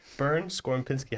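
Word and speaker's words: Bernd Skorupinski: a very special guest here with us today burn scor Pinsky how you doing perfectly pronounced thank you so much for I always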